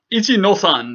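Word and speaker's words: 一の三: whatever uh star 1-3 ichi nosan is how we actually pronounce 1-3 ichi nosan the the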